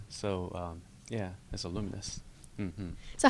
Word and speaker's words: Lumines: resz and now lumines did I say it right yeah luminous cuz some people call it lumines oh yeah no I